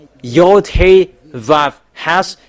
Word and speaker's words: Vav: Pronunciations it's equal W, that it's V. Yod Hey Vav has its YHVH.